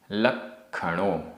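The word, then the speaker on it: लक्खणो: एगो, एगो, में, सस्सदो, आधा सा पूरा सा, सस्सदो, अप्पा, आधा पा पूरा पा, अप्पा, णाण, दंसण, लक्षणों, आधा का ख, णाण दंसण लक्षणों, शेषा,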